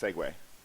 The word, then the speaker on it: segue: or segment it's true I've had numerous people saying you say you're saying it right it's segue okay you segue into the segment so back to that